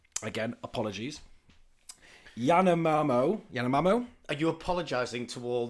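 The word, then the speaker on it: Yanomamö: To all my Yamamomos, you know what I'm saying, bruv. He pronounced our name wrong again. So it's the Yanomamo and the Shamatri tribe.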